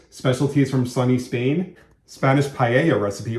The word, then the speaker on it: paella: Spanish paella recipe, only they tell you to pronounce it paella. Paella. Nope. Paella.